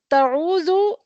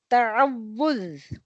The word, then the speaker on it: تعوذ: The correct pronunciation of al-isti'aza is ta'awudh. Ta'awudh.